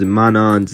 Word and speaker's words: Manon: I know that I pronounced Manan's name wrong. Don't attack me. I know it's Manan.